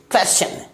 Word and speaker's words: question: TION है, और जैसा कि नियम है कि एस लेटर के बाद अगर TION आ रहा है यानी इसमें टी लेटर की जो साउंड है वो चा से निकलती है। तो इसे हम लोग क्या प्रोनाउंस करेंगे? क्वेश्चन, क्वेश्चन।